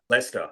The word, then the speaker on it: Leicester: Leicester. Yeah, that's what I see.